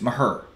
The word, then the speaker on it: Maher: But it's funny because Maher. Thank you, Kerry Teagle. You're right. That's what it is. Maher. Maybe. Oh, Eric Kashady just spelled it out. Thanks, Eric. I know how it's spelled.